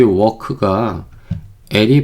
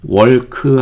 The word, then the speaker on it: walk: 여기 아시겠지만은 여기 워크가이 발음이 나지 않아요. 월크 하시면 안 돼요.